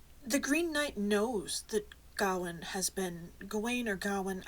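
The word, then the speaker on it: Gawain: I think it's actually Gowen. Um, but I've always said gane because that's how it's spelled, but I'm pretty sure it's got one.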